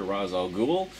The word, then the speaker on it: Ra's al Ghul: want to pronounce her, Ra's al Ghul. Anyway, I've always gone with the Batman animated series pronunciation, so I always call him Ra's al Ghul.